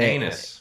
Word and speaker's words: Aeneas: It was like a Anus. 1800. Oh yeah, his name was Anus like coffee. his name was Anus, spelled like AENEAS or something Shade, you're like about to that.